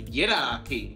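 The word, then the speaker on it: yidaki: Northern Territory they are called the Yung which is spelled y u n and in their language they gave it the name Yi which is y i d a k i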